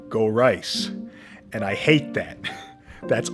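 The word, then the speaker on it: Gorice: as a child just goris oh kingoris but here he makes it clear that it's meant to rhyme with Thrice meaning that it would be more like go rice and I hate that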